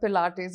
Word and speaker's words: Pilates: Has anyone ever mispronounced the word Pilates in front of you? Always. Always. Yes. Tell us some fun ones. Always, Plates? all the time. It's plates, it's pilates, so many variations to it.